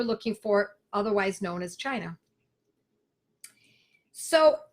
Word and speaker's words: China: the abbreviated word for it is China sometimes pronounced kena but China CH I na not Cinna don't get this